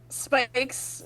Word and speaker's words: Spikes: Spikes, but the S is silent, is going to take